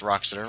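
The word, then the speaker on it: Wroxeter: Okay, so Shropshire, and I believe it's pronounced Roxeter.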